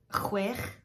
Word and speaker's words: chwech: Chwech is 6. Double D is pronounced like the English TH, the, as you would have in weather or breathe.